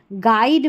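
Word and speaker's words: guide: गेस्ट में GU के बाद E है तो यू का उच्चारण नहीं है। गाइड में देखिए यू का उच्चारण नहीं हो रहा,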